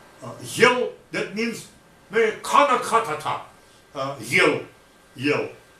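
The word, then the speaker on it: ель: It just indicates that the preceding letter is pronounced soft. So not yell. Yell, that means kana katata.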